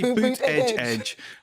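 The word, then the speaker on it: Buttigieg: yes that's his name Pete boot Edge you have to say boot Edge they release when they do press releases they do it phonetically Pete puto judge he's the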